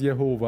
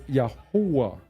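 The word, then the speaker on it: Yahweh: um where H 3068 they have it as Jehovah of course it's yahwa yahwa that's the pro the proper pronunciation there was no V there was no o there was no e there was no W yahua all right yah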